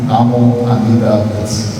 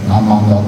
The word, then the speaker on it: Namo Amida Butsu: e recitamos o nome Namo Amida Butsu, Namo Amida Butsu. Quando se pega a prática dessa recitação, a pronúncia acaba sendo abreviada, eu falo Namanda, Namanda.